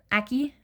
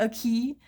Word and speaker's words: Aki: really said weirdly is my name's Aki. Like Aki. It was really funny when they said it the first time. They're like Aki. And I'm just like, that's not how you say it.